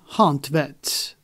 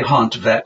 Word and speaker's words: Hontvedt: And John Hontvedt, that's how it's pronounced? I say Hontvedt. I mean, I'm sure that somebody could pronounce it better.